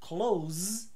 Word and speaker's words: close: bem não funciona agora se a palavra c o s e for o verbo fechar the opposite of Open aí eu falo com z Close então Close com s perto Close com z fechar também